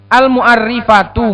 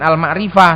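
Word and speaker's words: المعرِّفة: Wa huwa kullu ismin dakhalat alaihi al-mu'arrifatu, bacanya al-mu'arrifatu, jangan al-ma'rifah, salah.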